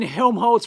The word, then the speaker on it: Helmholtz: Oh, as in Helmholtz resonance. Okay. Yes. Yes. That's how I pronounce it anyway. Helmholtz. I think I'm probably butchering it, but that's how it's pronounced here in Australia.